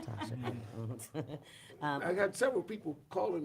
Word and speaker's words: Tosha: Think Tosha, even though it's pronounced Tasha.